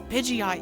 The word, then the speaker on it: Pidgeot: You know, Pokemon Blue, I saw the Pidgeot, and I was like, Pidgeot sounds wrong because it sounds like too hard of a like pause between syllables.